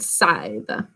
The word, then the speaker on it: scythe: make hay out of we pronounce it scythe so there's our poem